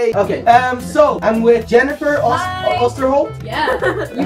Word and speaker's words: Oosterholt: Okay, so I'm with Jennifer Oosterholt. Yeah. You pronounced it right. Yeah. Oosterholt and Melissa Oosterholt.